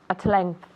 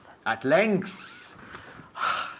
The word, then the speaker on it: at length: At length. At length. Es que no tengo trabajo que hacer aquí. Es que at length. Remember, the TH, you have to sacar la lengua.